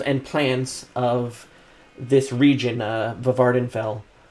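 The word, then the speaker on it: Vvardenfell: Let's say I'm researching the animals and plants of this region, Vardenfell. That's probably supposed to be pronounced Wardenfell.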